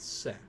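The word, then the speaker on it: せ: You pronounce it as Se.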